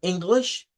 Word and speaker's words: English: Eh, hay algunas, como por ejemplo la que vimos de English, que pues esa comienza con e y se pronuncia con i, eh, y corta.